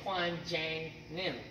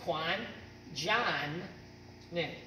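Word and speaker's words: Kwanjangnim: Johnny client name okay but if you read it off the sheet you'd say Kwan Jane knew and then that's your sounds wrong to people that actually know the language okay so it's Kwan John then okay that concludes our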